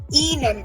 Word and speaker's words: Ihnen: Ihnen. Remember, I is pronounced as E in German.